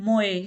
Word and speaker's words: мой: Moy ( m-o-y, moy) का प्रयोग 'my' के लिए किया जाएगा।